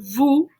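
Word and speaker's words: vous: two and then over here we go to vu v-o-u-s and that is you for people who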